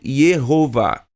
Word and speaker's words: Yehová: mais dúvidas de que o nome de Deus em sua forma original hebraica era pronunciado Yehová.